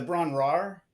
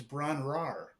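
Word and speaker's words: Bron-Yr-Aur: It's 2 syllables, despite the way that it's broken out with the 2 dashes.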